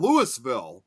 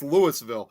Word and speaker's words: Louisville: same na exact name, but it's pronounced instead of Louisville, it's called Lewisville.